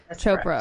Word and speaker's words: Chopra: been I guess I've been mispronouncing it so it's Chopra chopr Chopra okay so and in primordial